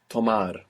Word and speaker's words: tomar: The verb to take is tomar.